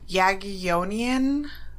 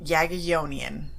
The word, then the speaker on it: Jagiellonian: Well, I actually looked this word up. Okay. Jagiellonian. Jagiellonian. Okay, I'm pretty sure that's how you pronounce it.